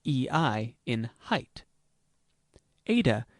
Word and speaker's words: Eta: Eta is pronounced like A in fate.